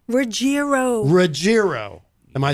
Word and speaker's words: Ruggiero: gonna tell you now I always think it's a soft G I would say Ruggiero but it's Ruggiero as long as you don't say rogério right my father will